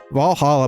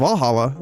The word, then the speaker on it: VA-11 Hall-A: Valhalla by Mickey. The name sounds silly and a bit hard to pronounce. Good thing it's actually called Valhalla. The funny numbers and letters are just a code.